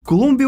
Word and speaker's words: Colombia: The Republic of Colombia is actually mispronounced by us as well as many other nations because it's actually with an “o” ColOmbia as it is in Spanish.